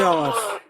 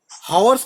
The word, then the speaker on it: hours: I shall have been reading 3 घंटे से Reading फॉर 3 आवर्स। अब देखो बस एक गलती थी, मैंने इसलिए रिपीट करवाया। हावर्स नहीं बोलते, एच साइलेंट होता है, आवर्स।